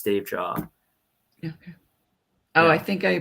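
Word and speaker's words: Davejia: have uh my my Tick Tock is it's Dave jaw so its d-a-v-e-j-i-a same with my Instagram same with my YouTube channel it's all it's Dave jaw yeah oh I think I pronounced your last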